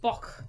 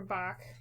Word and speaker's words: Bach: Bach. Say it like a chicken. Bach, Bach, Bach. I'm saying it like the German Bach or Scottish Bach. Bach. No, I think It's a softer cuff.